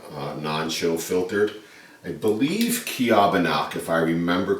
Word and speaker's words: Ceobanach: so this is the I believe this is pronounced the kabano however if we were to pronounce it the way it's spelled it' be the cach but I believe it's the kabak we do not have